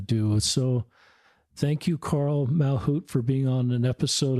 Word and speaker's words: Malchut: A L C H U T Carl um Mal Hoot is how Carl's name's pronounced.